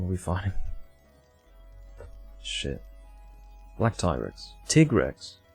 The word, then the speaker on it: Tigrex: Tigrex, I'm trying to force myself to call him Tigrex. That's the correct pronunciation. I'm not American. Shouldn't be saying Tigrex.